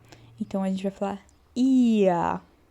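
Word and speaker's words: ihr: E o H, que a gente não pronuncia porque ele vem depois de uma vogal.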